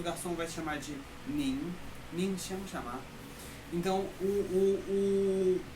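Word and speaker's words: 您: Nin. só que é segundo tom e tem um nasal aí, né, no final. Nin.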